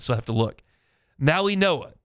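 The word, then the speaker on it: Mauigoa: Maui Noah. It's It looks like Maui Goa, but it's Maui Noah.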